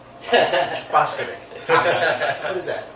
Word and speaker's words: Boskovic: Boskovik. What is that? It's Serbian, actually. Serbian. So. Boskovic, if you want to pronounce it the Serbian way.